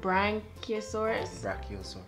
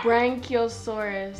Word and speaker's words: Brachiosaurus: So this is the, how you pronounce it? Brachiosaurus.